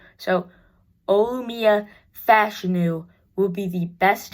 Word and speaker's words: Fashanu: that Olu fashanu fashu it's pronounced fashion apparently uh I was watching a bangle video and bangle said that he had like talked to old fashion and uh and he said it was fashion so Olia fashion new